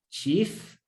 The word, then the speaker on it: chief: Cuando se juntan las vocales IE, que también suena muchas veces como I. Por ejemplo, en la palabra chief, que quiere decir jefe, que se escribe C-H-I-E-F, pero no se lee